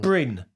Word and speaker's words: Bryn: You pronounce the name because I'm going to pronounce it wrong. Bryn.